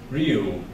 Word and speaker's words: Ryu: It's pronounced Ryu, as in Liu, but with an R.